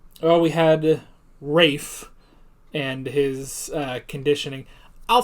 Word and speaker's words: Ralph: it was ray fines right but it's also ralph that's one of the most fun names in existence because it's not how you would think that's pronounced you know so yeah rafe um yeah but he had the conditioning it